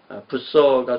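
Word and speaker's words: Bucer: 이 부서를 이제 부처 이렇게 발음하는 사람들이 있는데 부서가 좀 난 것 같아요. 영어식 발음이라면.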